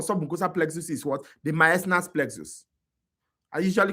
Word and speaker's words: Meissner: The myasnas plexus. I usually call it submyasna. So that I can remember, because in the exam they can tell you submucosa, they can tell you myasna. Myasna is spelled MEISSNER.